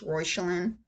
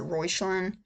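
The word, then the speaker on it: Reuchlin: The internet says it's a German name. It's Rochelin. Um that you pronounce it Royelin.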